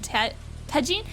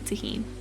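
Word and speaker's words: Tajín: Tajin, that's how you say it, right? Tajin, because the J is like a jalapeno.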